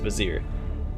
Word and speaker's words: Vizier: can be found in Vizier Vizier Vizier that's how it's pronounced Vizier Vizier mylabs historical records